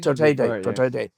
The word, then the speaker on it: Duterte: How do you pronounce that? President Duterte? Duterte.